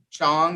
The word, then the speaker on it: Chong: into the room excellent so gabrielle chong is that correct is that the correct pronunciation yes yes thank you so much excellent